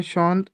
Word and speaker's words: chaud: Hindi English का एस एच ओ W, this is the exact same pronunciation Chaud.